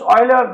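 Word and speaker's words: Euler: now let's see famous oiler number E that's equal to 71828 written as uler pronounced as Oiler it has two forms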